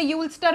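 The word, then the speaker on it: Ulster: तो रूलर, अल्स्टर, अल्स्टर अगर किसी को नहीं पता, इसे यूल्स्टर भी बोलते हैं लोग, लेकिन मैं इसको अल्स्टर इसलिए बोल रही हूँ क्योंकि अल्सर नाम की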